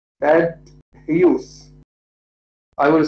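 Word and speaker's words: Hughes: PL was married to the British poet Ted huse Ted huse I will spell it for you Ted is the first name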